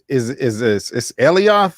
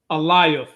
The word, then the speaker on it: Alioth: It's Elioth, or I feel like I keep saying it wrong. Alioth is a trans-temporal entity